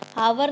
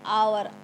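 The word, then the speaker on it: hour: हम एच ओ यू हावर नहीं बोलते हैं क्योंकि एच हमारा साइलेंट है हम बोलेंगे आवर आ यूज करेंगे हम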